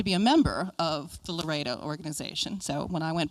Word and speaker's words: LREDA: LREDA is, actually we pronounce it LOREDA.